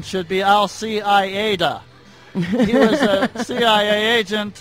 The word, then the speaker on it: Al-Qaeda: When you discuss Osama bin Laden's organization, the proper pronunciation should be Al-Qaeda.